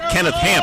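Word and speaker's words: Hampe: The other player, not nearly as troubling, their left guard offensively is Kenneth Hamp. He has an E on the end of his name. It is silent.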